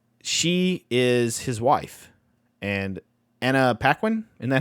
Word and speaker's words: Anna Paquin: She is his wife, and Anna Paquin.